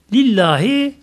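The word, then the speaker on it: لله: Lillahi yalnız Allah'ın hakkıdır, ona aittir. Buradaki lam istikak deniyor buna. Bu aslında li Allah'ıdır. Burada kısaltılır. Lillahi okunur burada okunuşu. Elhamdülillahi hamd hamdiler, bütün hamd senalar yalnız Allah'ın hakkıdır.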